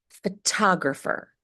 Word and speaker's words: photographer: So even though the T is between two vowels, the T is pronounced as a true T, not a light D. We must pronounce it as a true T. Photographer, photographer, photographer, not photographer.